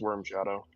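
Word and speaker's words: Wyrm Shadow: Durgens worms or W Y RM? I might be mispronouncing it cuz I'm weird. No, it's it's pronounced Worm Shadow.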